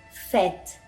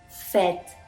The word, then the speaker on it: fête: Cuando la letra E tiene l'accent circonflexe, vamos a pronunciar esta letra como una E grave. Par exemple, fête, fête, fiesta, être, être, ser o estar, par exemple.